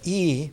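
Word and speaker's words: 意: And yi, pronounced that way in ancient Chinese, means the symbols in the mind.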